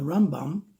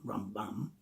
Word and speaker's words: Rambam: And on that episode, the Rambam, as we say, not Rambam, Rambam, that's Ramban with a nun. It's Rambam with a mem at the end. So Rambam, Rambam, yeah, accent on the beginning.